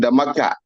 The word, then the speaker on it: Damaka: Yes, I'm not Dakar. I am Damaka. I've asked Ime to correct that. I'm sure she has not made that correction. That's why you are still pronouncing my middle name as Dakar. It's not Dakar. It's Damaka.